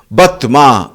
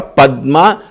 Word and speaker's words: Padma: Batma, they say. For Padma, they say Batma.